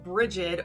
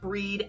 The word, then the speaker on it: Brigid: that will only say breed but to be fair her name can be pronounced either way like i said earlier